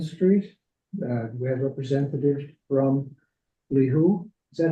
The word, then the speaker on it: Lihu: We have representative from Lihu. Is that how it's pronounced?